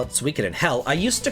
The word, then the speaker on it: Suikoden: it took me to learn just how to pronounce, like, Suikoden. And that was back in the day. I used to call it Suikoden, and now I call it Suikoden.